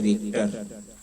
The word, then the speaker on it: Richter: अगला है भूकंप मापी को कहते हैं रिक्टर, रिएक्टर, स्पेलिंग होती है RICHTER, रिक्टर, भूकंप मापी।